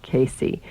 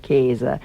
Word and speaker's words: Casei: And in Italy, it was always pronounced Casei, and in the German-speaking countries, they always pronounced it Käse. And I didn't like that because it was just too close to being cheese. And so I liked that Italian pronunciation of Casei, and I sort of